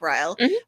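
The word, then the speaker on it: Ryle: um the two characters Lily and Riley right that's the way you pronounce it like Riley um on the rooftop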